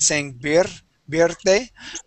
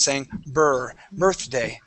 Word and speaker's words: birthday: Okay, here you tend to roll your R a little bit, saying birthday. Okay, so what we want to pronounce is an R sound, saying birthday.